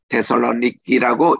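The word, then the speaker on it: Θεσσαλονίκη: 대선의원이니까 전서후서 이렇게 나오는데 현지 발음은 데살로니키라고 이렇게 발음을 합니다만은 자 우리 지도를 보겠습니다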